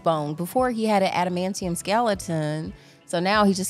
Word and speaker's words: adamantium: with regular bones it was just coated in animum did I say it wrong adamantium antium so what was it I think Striker